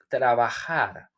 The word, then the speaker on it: trabajar: The J, it don't sound like J in Spanish. It sounds like trabajar.